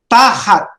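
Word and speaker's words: תַּחַת: Underneath is tahat. Notice the pronunciation. Tahat. Not tahat, but tahat. Okay.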